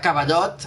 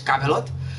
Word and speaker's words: Cavelot: Llavors, de Cavallot, ara la pronuncia ja és Cavelot.